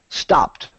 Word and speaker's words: stopped: This word is actually pronounced watched. Watched. Very good. This word, stopped.